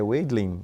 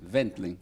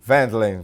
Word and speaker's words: Wendling: No caso aí, em alemão, o W se pronuncia como um V. Ah, Aí o pessoal fala Weidling. Wendling. Wendling.